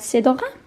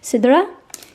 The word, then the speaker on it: Cidre: Yes, a personalised notebook and a fragrance from the I hope I'm pronouncing it right, Cidre? How would I pronounce it if I was French? Cidre?